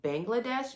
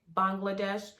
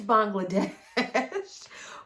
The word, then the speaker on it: Bangladesh: Bangladesh, and I'm saying Bangladesh, even though I've heard some people say Bangladesh, but the young ladies that were there were pronouncing it Bangladesh. So until further notice, it's Bangladesh.